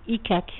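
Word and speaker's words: icaque: de l'icaquier que l'on appelle en français donc icac. Ça s'écrit I-C-A-Q-U-E.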